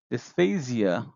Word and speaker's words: dysphasia: Dysphasia, I'll say it like that, dysphasia refers to difficulty with speech.